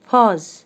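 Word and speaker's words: pose: P O S, पॉज, because जो letter ई है वो अपनी साउंड नहीं देगा, यहाँ पर लेटर ई साइलेंट रहेगा और जो लेटर ई है वो फोर्स किस पे करेगा?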